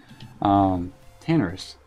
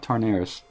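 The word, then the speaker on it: Tanaris: I keep saying that wrong. I say it like I'm from Texas. Tannerus, not Tarnaris. Tannerus.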